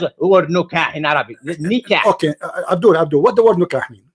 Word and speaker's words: nikah: How she have a husband and she is going to do nukah for him? She will marry him twice. Until you do nikah, learn how to pronounce the word correctly.